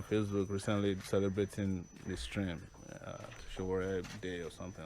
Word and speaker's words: Sowore: How do you pronounce Sowore? Sowore. Sowore. What does it mean? Is in Yoruba it will be Sowore, meaning Show turn business into friendship.